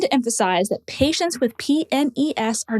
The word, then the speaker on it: PNES: But for clarity in this case, make sure to spell out each letter. It should be pronounced p nes, not penis.